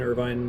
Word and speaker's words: Irvine: in your back pocket should be vine irvine like the city in california sharpshooters are loners by nature i guess his name was irving you would pronounce it short pressure of the moment